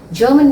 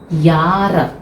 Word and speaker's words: Jahre: तो आप इसको जब प्रोनाउंस करेंगे तो जारा नहीं बोलेंगे, दैट इज यार, यार, यार, यार, यार। इट्स नॉट एग्जैक्टली यार, आधा होगा, यार आठ।